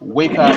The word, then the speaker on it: Weka: Weka is spelled W-E-K-A, Weka.